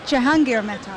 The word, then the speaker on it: Jahangir Mehta: Jahangir Mehta. Did I say it right? Jahangir Mehta.